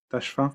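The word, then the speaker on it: Tachfine: almoravide Youssef ben Tashfin, Tashfin, C'est je sais pas ça, comment on dit. c'est ça, tu l'as super bien prononcé.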